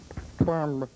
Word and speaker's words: Gwamba: It's pronounced Gwamba.